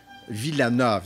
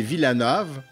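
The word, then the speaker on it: Wilanów: Villanove, excusez. Parce que le W se prononce comme un V. Donc, c'est Villanove.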